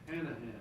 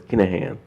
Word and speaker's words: Kinahan: Hanahan. No, no, no, it's Kinahan. Kinahan.